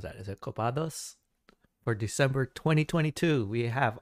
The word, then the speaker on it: Copados: Yep, Copados, just like I pronounced it.